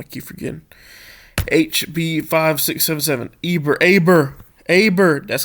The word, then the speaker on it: Eber: Aber. That's how you pronounce.